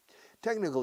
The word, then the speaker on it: technical: Technical is técnico. Su trabajo es más administrativo que técnico. Muy bien. His job is more administrative than technical. Pronunciado tech. La che aquí es como una K.